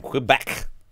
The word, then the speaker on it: Quebec: And I'm saying it wrong because I'm saying qua, right? I mean, qua is the how you would say it in like the military alphabet. They pronounce it Quebec for the letter Q.